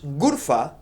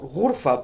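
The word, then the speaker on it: غرفة: They also use Ghurfa or Ghurfa, pronounced as exactly as in Arabic.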